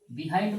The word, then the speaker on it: behind: আচ্ছা আরেকটা হচ্ছে বিহাইন্ড। বিহাইন্ড মানে কি? পিছনে। বিহাইন্ড মানে কি? পিছনে। এর একচুয়াল উচ্চারণ হচ্ছে বাহাইন্ড।